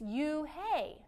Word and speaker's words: Yunhei: it's spelled you n h e i it's pronounced oh it's you hey the boy said like you hey what about